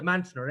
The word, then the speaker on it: Monsignor: That's how they pronounced Monsignor, but it was the Mansioner.